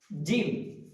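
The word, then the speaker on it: جيم: জিম উচ্চারণ করার সময় আমাদের খেয়াল রাখতে হবে যেন জিমটা হবে ভারী গলায়, মোটা গলায়, একদম নরম বা চিকন যেন না হয়। জিম, এটা পাশালিক টান আছে, জিম। জিম বলার সময় খেয়াল রাখবো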